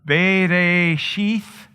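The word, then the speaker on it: בְּרֵאשִׁית: beginning is the word Genesis if you will bathe a sheath is the way you would pronounce it in Hebrew it's that whole first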